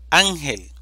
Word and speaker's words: Ángel: la segunda sílaba difícil Ángel división silábica Ángel sílaba tónica an termina en una consonante